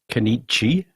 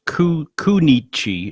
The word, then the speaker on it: Kenichi: Well, I've got a little bit more about the history of Kenichi, or Kunichi, it should be pronounced, Horie.